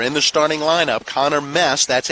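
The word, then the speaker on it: Meese: the starting lineup connor mess that's m-e-e-s-e but it is pronounced mess according to head coach dave marshall he's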